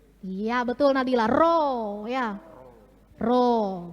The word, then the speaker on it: rho: Rho, bacanya rho ya.